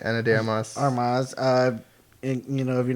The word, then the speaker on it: Ana de Armas: Ana de Armas.